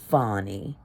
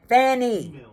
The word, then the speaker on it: Fani: your government name fonnie if you wanted to be called fonnie maybe you should have spelled it f o n n y or f o n y or f o n i but it's spelled f a n i Fanny and you out there